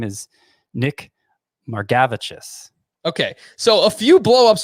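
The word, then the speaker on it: Margevicius: Nick Margavicius? That's how we're pronouncing it, right? Nick Margavicius.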